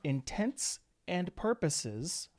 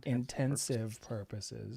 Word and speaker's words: intents and purposes: do okay i think for all intents and purposes folks not intensive purposes if you say it like that then you're saying it wrong then we are good